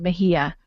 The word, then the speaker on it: Mexia: And I can tell it fairly quickly, about a town in Texas called Mejia, and it's spelled Mexia.